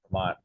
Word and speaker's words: Tremont: is that how you pronounce it? yes, Tremont. Tremont.